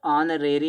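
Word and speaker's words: honorary: तो ऑनरेरी में साइलेंट होता है।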